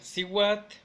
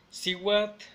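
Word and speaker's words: cihuatl: Entonces agua sería at, at, mujer sería siwat, siwat, serpiente sería coat o cowat, cowat es la que más usamos.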